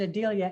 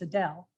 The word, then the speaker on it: Adele: Adele was, I pronounced it Adelia, and Betty Brown said, no, it's Adele.